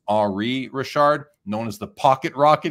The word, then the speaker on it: Henri Richard: And the Rocket Richard, his brother was Henri Richard, like Henry, but pronounced Henri Richard, known as the Pocket Rocket because he's a little bit smaller than his brother.